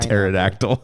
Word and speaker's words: pterodactyl: Pterodactyl. Yeah. Doesn't that have like isn't pterodactyl spelled with a P? Silent P.